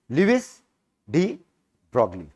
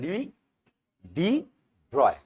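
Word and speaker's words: Louis de Broglie: Indian वाला हरकत करेंगे, इसका नाम पकड़ेंगे, पढ़ेंगे, लिविस डी ब्रॉगली। लेकिन इसका एक्चुअल प्रोनाउंसिएशन बेटा जानते हो क्या है? लुई डी ब्रॉय। लॉजिक ही नहीं बनता ब्रॉय किस हिसाब से, लेकिन पढ़ता यही है, ठीक है?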